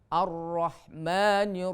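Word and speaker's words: الرحمن: Alhamdulillahi rabbil alamin ar-rahmanir rahim, ya. Ar-Rahman, walaupun alnya tidak dibaca karena al di situ adalah hukumnya adalah idgham syamsi karena ada alif lam syamsiyah.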